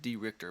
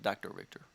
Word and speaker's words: dricht3r: three r dot com it's pronounced d richter by the way d richter not dr richter d richter here's on